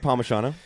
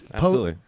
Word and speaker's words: Palmisciano: I don't know hello Pomano thanks for having me it's Pisano oh is that what it is I've been pronouncing it wrong this entire time definitely not what it